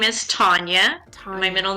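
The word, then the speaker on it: Tania: have no idea well my real name is Tanya my middle name is Tanya and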